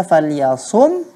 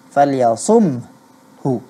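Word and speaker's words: فَلْيَصُمْهُ: Karena saat kita mengucapkan huruf H, kedua bibir kita harus terbuka. Falyasumhu. Iya kan? Hanya kita tidak bunyikan hu-nya.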